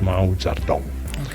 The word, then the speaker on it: Mao Zedong: But you actually write it Mao Zedong, but it's pronounced Mao Zedong.